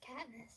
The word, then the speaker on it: Katniss: Just Katniss.